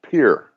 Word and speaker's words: Pierre: Capital of the state of South Dakota is Pier.